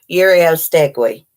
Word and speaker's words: Uriostegui: Uriostegui. That's how you say her name. Marlene Uriostegui.